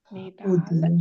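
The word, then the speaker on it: Nedàl: Dove metto l'accento? Nedal sulla A. Sulla A, sì. Sì, sulla A. Accento aperto o chiuso? Aperto. Sempre aperto sulla A.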